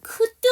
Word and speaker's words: could: could의 L 사운드, could, would, should L 사운드 다 묵음이고요.